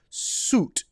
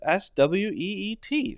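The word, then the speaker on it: suite: to suit something actually the correct pronunciation is exactly the same as s-w-e-e-t so just pronounce it sweet sweet sweet sweet now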